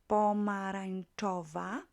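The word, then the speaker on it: pomarańczowa: long adjective five syllables pomerantova make it feminine pomerantova nuta pomerantove once again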